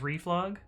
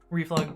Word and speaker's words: reflog: Uh it took me a really really long time to not pronounce it as Reef because um that was how I pronounced it inside my head. Um but then somebody pronounced it out loud and I realized that I was a bit of a dummy.